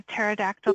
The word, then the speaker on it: pterodactyl: can't you hear a pterodactyl go to the bathroom why can't you hear a pterodactyl go to the bathroom because the p is silent you guys know how